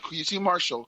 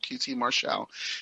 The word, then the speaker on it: QT Marshall: uh qtqt martial yeah not quiche marshall qt marshall so i'm about the